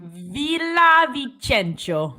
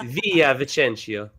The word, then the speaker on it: Villavicencio: Villavicencio. That's what I think it is. Whoa! No, it's Via Vicencio.